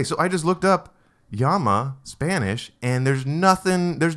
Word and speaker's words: llama: Okay, so I just looked up yama Spanish and there's nothing.